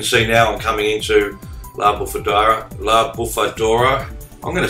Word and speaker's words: La Bufadora: But as you can see now, I'm coming into La Bufadora.